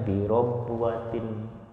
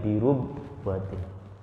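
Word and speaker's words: بِرَبْوَةٍ: Karena kita itu membaca Quran dengan riwayat Imam Hafiz dari qiraat Imam Asim, maka membacanya birabwatin. Kalau yang lainnya itu birubwatin. Birubwatin. Kecuali kita karena di sini pakai dari Imam Asim.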